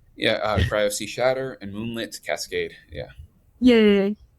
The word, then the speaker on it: cryosea_shatter: So those are basically Crystal Shadow and Moonlight Cascade, right? Did I pronounce it correctly? Yeah, Cryo Sea Shatter and Moonlit Cascade.